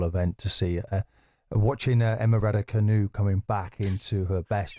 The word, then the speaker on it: Raducanu: Watching Emma Raducanu coming back into her best again. I've never heard it pronounced like that, with the emphasis on the canoe.